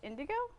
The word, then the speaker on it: Indoggo: He's calling it Indigo Gin, pronounced Indigo?